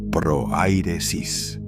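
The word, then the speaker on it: prohairesis: Esa palabra es projairesis, pronunciada proairesis.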